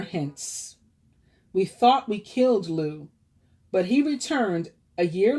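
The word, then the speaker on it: Lugh: sun god lou law guys pronounce lou l-u-g-h on the mid-summer holiday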